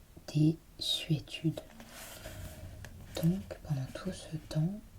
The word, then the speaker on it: désuétude: On doit aussi entendre S et non Z dans désuétude.